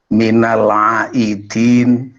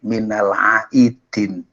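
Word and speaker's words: minal aidzin wal faizin: berkali-kali ungkapan doa Hai minal aidzin walfaidzin Hai Minal aidin ya kadang-kadang orang karena mungkin hanya mendengar tidak melihat tulisan ditulis atau diucapkan minalaidzin bukan Minal aidin pakai dan lain dari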